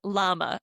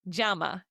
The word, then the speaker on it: llama: Okay, the correct way you pronounce it, which is written double L A M A, you would say jama. Instead of llama, you say jamama because that double L makes a J sound.